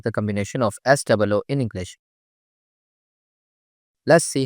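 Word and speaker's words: ソ: そ、そ、 The pronunciation of character so in Japanese is something like the combination of SOH in English.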